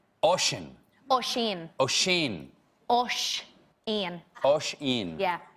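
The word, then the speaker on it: Oisín: Oisin. Oisin. Oisin. Oisin. Oisin. Oisin. Yeah. How do you think that's pronounced?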